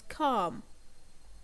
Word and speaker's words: calm: And also we have a silent L in the word calm.